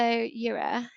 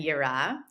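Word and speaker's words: יראה: about two concepts um I'm hoping that I pronounce it right so it's pushard and also Europe yeah um yeah no one no one can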